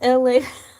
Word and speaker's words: Elay: My name is LA. My name is Z. Pronounced like LA like the city.